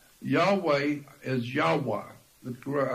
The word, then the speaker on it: Yahweh: on that name of Yahweh Yahweh is yahwah well I think the better pronunciation is yahwah and yahwah is actually